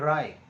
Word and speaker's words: wry: Both राय, WRY, इसको बोलते हैं राय, राय, रियल प्रोनाउंसिएशन ऑफ WRY, राय, इसका मतलब होता है सिकुड़ जाना।